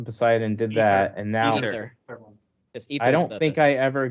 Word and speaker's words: Aether: I went to Poseidon, did that, and now Ether. I don't think I ever got anything. Aether, or however you pronounce it. Yeah, I think they say Ether.